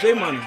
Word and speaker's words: Jmunna: It's Jmunna.